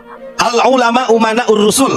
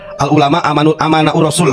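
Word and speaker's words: العلماء أمناء الرسل: Al-ulama umana'ur rusul, walaupun si Bahar salah bacanya. Bukan al-ulama umana'ur rasul. Al-ulama amana'ur rasul katanya.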